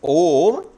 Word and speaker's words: Om: And this Om, when it is pronounced, uttered, there is A, U and Ma. These three letters are called three matras.